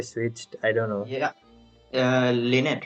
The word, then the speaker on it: Lynette: Pronounced as Lini and Lynette, by the way.